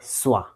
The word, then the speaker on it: schwa: Uh but before that you know who is the boss of English sound English letter sound the word swah. Okay actually s c h w a swah the pronunciation of I mean what is the swah sound?